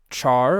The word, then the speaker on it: char: text types we have char or car I guess you should pronounce it car because it's character but I've always said Char even if that's incorrect